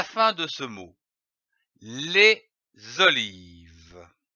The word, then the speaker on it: olives: Les olives. Ici, attention, à olive, on ne prononce pas le S final.